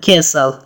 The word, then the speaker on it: castle: That is an old castle. That is an old castle. Castle معنا کلا یا ماڼۍ ته هم استعمالیږي. یادونې وړ ده چې په castle کې ټي نه تلفظ کیږي. ټي سایلنټ ده.